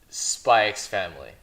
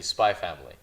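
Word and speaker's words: Spy × Family: say spike's family or if for you guys who want to pronounce it correctly spy family but i say spike's family because when you type it in you have to type in the x2 so when i recommend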